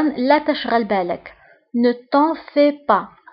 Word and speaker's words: fais: Ne t'en fais pas. بالنسبة هنا الفي اس آخر الكلمة لا تنطق.